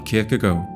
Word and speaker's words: Kierkegaard: HERE DIED SØREN KIERKEGAARD ON NOVEMBER 11TH 1855 Kierkegaard. I mean -- In Brazil, we say it like that, but that's certainly the wrong pronunciation. Indeed, a closer pronunciation would be Sir-hen Keir-keh-goal.